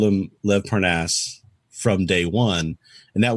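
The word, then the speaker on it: Lev Parnas: question who is this Lynn parv person it's Lev parnaz okay now we found out here's the fun part we found out that Lev paras's name is pronounced that way okay everybody had been calling him L Parnes okay because that's way you kind of you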